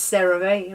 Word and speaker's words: CeraVe: One last product, and it is a skincare product, is by CeraVe, because you guys told me how to pronounce this, CeraVe, right?